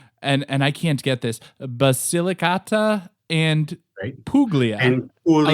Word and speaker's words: Basilicata: Can you give us the right pronunciation for that? Yes, it's Basilicata and Puglia.